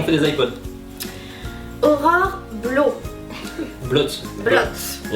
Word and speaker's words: Blot: Blot. Blot. Il y a un T à la fin? Oui, mais il y a des Dans mots. le doute. On le prononce pas, c'est vrai.